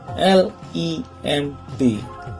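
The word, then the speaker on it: limb: Ejaannya L-I-M-B, lim.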